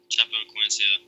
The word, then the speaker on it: Chapecoense: Chapecoense.